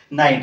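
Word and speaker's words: knight: নাইট কইলে তো পুরা জানি নথিব কি হবে নাইট এথিরে কোন সাউন্ড আসছে জি এইচ কোবে সাইলেন্ট রোগ সন্ধি only we are reading a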